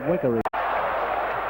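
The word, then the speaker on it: Wegerle: Dixon outside well to Wegger. Beg your pardon, I believe the pronunciation is Wiggery.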